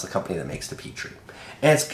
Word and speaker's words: Petri: peotry putrid peotry Petry that's not how you say it it's not Petry its Petrie the Petrie RDA there's no masculine way